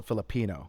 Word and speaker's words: Filipino: Oh, I I think Yeah, I think you put the emphasis on the second I. So, Filipino.